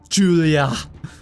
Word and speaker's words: Julia: Julia. That emphasis on the last A of her name.